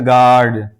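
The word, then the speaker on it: guard: जैसे गार्ड गार्ड यहां इसको गार्ड नहीं पढ़ेंगे बल्कि यू के बाद मुतसिलन ए आया है तो अब ये यू साइलेंट है यानी इसको नहीं पढ़ेंगे इसको पढ़ेंगे गार्ड इसी तरह गेस्ट गेस्ट यहां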